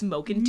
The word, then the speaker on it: Mulkenton: And I always pronounce that last name wrong. It's Mokenteen.